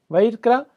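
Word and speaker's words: ויקרא: Então, simplesmente esse Vaikra, se pronuncia Vaikra, então isso significa e chamou, e Deus chamou.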